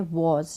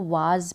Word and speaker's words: was: Next है वॉज, WAS वॉज, इसको वाज पढ़ते हैं कई लोग, लेकिन इसका जो प्रोनाउंसिएशन है, जो उच्चारण है वो है वॉज।